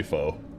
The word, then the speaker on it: pho: But yeah, I do say pho. That way it rhymes with "Oh Canada."